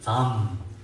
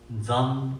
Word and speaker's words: Dzam: Here is the Dzam. Dzam, Dzam syllable is Dzam.